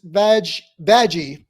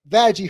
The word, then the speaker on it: Vaggie: Starting with her girlfriend, which is Vaggie, and I am pronouncing that right. Vaggie, her girlfriend, who is